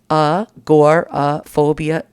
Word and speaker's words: agoraphobia: see here you go it's pronounced uh gor phobia and let me tell